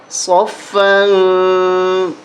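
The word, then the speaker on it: صَفًّا: ہجے نہیں کر رہے۔ صفا، صاد فا زبر صف، فا دو زبر فن، یہاں غنہ نہیں ہوگا بلکہ اخفا ہوگا، یہ ناک میں آواز چھپا کے پڑھیں گے۔ صفا، صفن نہیں پڑھیں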